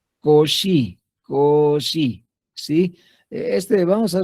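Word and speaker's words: Cauchy: Cauchi, así, pero se pronuncia koshi.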